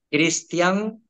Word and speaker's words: Cristian: perfil es Cristian, con acento en la A, con acento en la I.